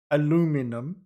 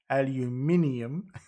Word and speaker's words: aluminium: you'll see as long as you can still pronounce it see i nearly said it nearly said it aluminum aluminium correctly they've got no reason to hire you